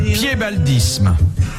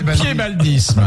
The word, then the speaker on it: piébaldisme: Qu'appelle-t-on le piébaldisme? Le quoi? Le piébaldisme. C'est pas le fait d'avoir un pied beau. Non, ça s'écrit P-I-E-B-A-L-D-I-S-M-E.